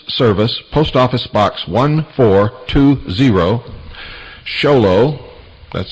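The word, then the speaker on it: Show Low: Make checks or money orders out to Annie, A-N-N-I-E, and send them to the Intelligence Service, Post Office Box 1420, Sholo, that's spelled S-H-O-W-L-O-W, Arizona, 85901.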